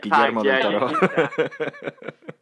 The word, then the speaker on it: Guillermo del Toro: So Nightmare Alley is directed by Guillermo del Toro. Guillermo del Toro. Yeah. I'll say it because you guys can't pronounce it. Guillermo del Toro.